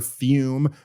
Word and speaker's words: Fum: about our longtime sponsor fume pronounced fume but it's spelled f m they look at a